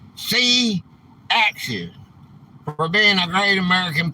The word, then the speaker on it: C-Axis: It's pronounced C-Axis for being a great American patriot.